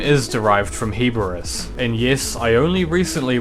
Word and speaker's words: Heboris: Yes, his name is derived from Heboris. And yes, I only recently realized it's usually pronounced "heb-ur-ris".